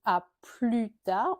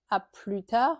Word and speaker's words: à plus tard: À plus, on dit à plus tard, on ne prononce pas le S. à plus tard mais à plus avec le S qui est prononcé cette fois ou bien à la prochaine.